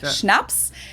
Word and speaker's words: Schnaps: In German, we spell it like this and say schnaps and it means hard liquor.